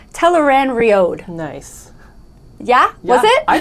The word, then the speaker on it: Tel'aran'rhiod: 3, Episode 5 called Tel'aran'rhiod. Nice. Yeah? Was it? I think I want to say it's exactly as it's spelled out. Yeah, this one, finally. Right? Yeah, like phonetic.